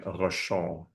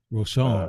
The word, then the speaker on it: Rochon: By the way, my name is French, so it's pronounced Rochon. Rochon.